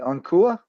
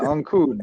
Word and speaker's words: Ancud: Ancua? I think it's like Ancud. Yeah, I don't even know how to say it. Ancud. Yeah, Ancud.